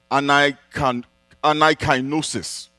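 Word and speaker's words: anakainosis: Now, the word renewal in the verse we have just read comes from a Greek word that is pronounced anaikainosis.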